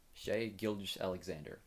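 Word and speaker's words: Shai Gilgeous-Alexander: So just recently for the Thunder, SGA, Shay Shay, I think you pronounce it Shay. Shay Gilgis Alexander.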